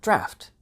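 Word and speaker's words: draught: It's spelled d r a f t most of the time in the US and d r a u g- ht mostly in the UK. They have the exact same pronunciation.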